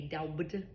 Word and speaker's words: doubt: Another word, doubt. Doubt. If I'm not thinking something's going to happen, doubt. I don't say doubt. I say doubt. Right for the silent B.